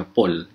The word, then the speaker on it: Paul: Paul dibacanya Paul.